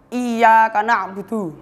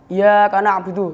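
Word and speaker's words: إياك نعبد: Itu kita bacanya harus ya-nya itu harus jelas tasdidnya, nggak boleh samar. Kalau kita bacanya tasdidnya itu tidak jelas, kita akan bacanya seperti ini. Iya karena abudu itu salah.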